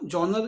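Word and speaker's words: genre: जॉनर होता है style of film, कई लोग जॉनर कहते हैं, आई थिंक इसकी स्पेलिंग होती है GENERE, तो इसको वर्ड बोलते हैं जॉनर।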